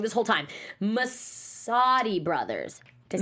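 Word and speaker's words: Messoudi: all unanimously loved, and I've been saying their name wrong this whole time. Masadi brothers. Did I say it right? Yeah, Masadi brothers.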